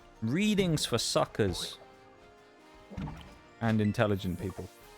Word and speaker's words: Reading: two people saying reading it's reading that's the place that's how you pronounce it not reading I don't think they've